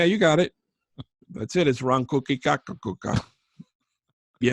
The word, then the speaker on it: Ronkonkoma: It's Ronkonkoma. The M is silent.